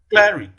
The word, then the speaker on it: cleric: Cleric. Cleric. The primary stress falls on the first syllable in cleric.